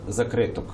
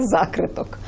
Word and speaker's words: закриток: називається у тенетах двох закриток Ви дуже правильно наголосили так Як наголошує Ольга Ільків Бо мені так і хочеться на префікс перетягнути цей наголос і сказати закриток закриток Ну я зрозуміло десь